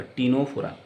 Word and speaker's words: Ctenophora: और आप जानते हैं कि टीनोफोरा का ये जो सी है ये प्रोनाउंस नहीं होगा, टी से प्रोनाउंस होगा, टीनोफोरा, राइट।